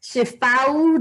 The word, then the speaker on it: Shifawu: And today we have the fabulous Shifawu. Did I pronounce that correctly?